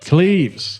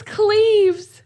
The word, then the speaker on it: Cleves: Cleves. It's Cleves.